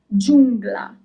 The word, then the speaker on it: giungla: Giungla. Giungla. Player is giocatore. You pronounce all the letters.